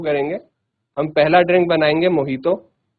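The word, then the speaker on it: mojito: हम पहले ड्रिंक बनाएंगे मोहितो मोहितो की स्पेलिंग मोजी तो है बट बोलना मोहित है ठीक है जी मोहित तो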